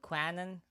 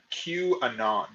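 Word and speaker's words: QAnon: uh fake news machine called Quan I don't know I think that's what it's called oh I I believe it's pronounced Q Anon is how they're usually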